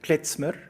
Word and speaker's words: klezmer: David, I have the sense that, and excuse my pronunciation, klezmer music, the traditional style, is that pronounced correctly? Klezmer?